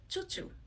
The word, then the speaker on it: Chouchou: So I think if it's French who will pronounce it, it much sounds very fancy. But like me, if I say choo choo, it's kind of like a choo choo train.